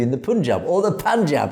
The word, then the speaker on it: Panjab: Why do you use a Punjabi accent to say Sikhs, but then continue the rest of your news in an English accent? Well, I'm English. Also, it's Panjab, not Punjab.